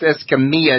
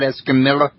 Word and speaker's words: Escamilla: Okay, now that last name's pronounced Escamilla, not Escamilla. Right, Escamilla. Escamilla. The two L's are pronounced like a Y.